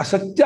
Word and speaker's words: ಸತ್ಯಂ: ಮೂರು ಅಕ್ಷರ ಇದೆ ತೋರಿಸ್ತೀನಿ ಹೇಗೆ ಸತಿ ಯಂ ಅಂತ ಅರ್ಧಕ್ಷರ ಈ ತಕಾರ ಅನಂತರದಲ್ಲಿ ಇದೆಯಲ್ಲ ಅದು ಉಚ್ಚಾರಣ ಅರ್ಥ ಇರತು ಅದು ಇದ ಸತ್ ಯಂ ಸತ್ಯಂ ತಜ್ಜತ ಸತ್ ಅಲ್ಲಿ ಸತ್